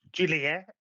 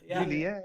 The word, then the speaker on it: Joliet: How do you pronounce it? Joliet. Joliet, Illinois. Juliet, Yeah. Juliet.